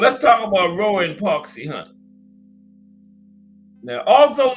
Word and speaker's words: Park Si-hun: Roy Jones and Park Si-hun. Park Si-hun. That's right. Yeah, the Korean guy. You can't butcher that, right? E-A-R-K. Little 8-year-old granddaughter could pronounce this. S-I-H-U-N. Right? Park Si-hun.